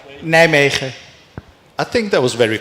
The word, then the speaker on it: Nijmegen: Was it really, what is the right way to pronounce it? Nice try. And the right way? Nijmegen.